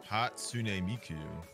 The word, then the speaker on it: Hatsune Miku: the name of your anime character there sneak Hatsune Miku okay perfect I didn't want to butcher it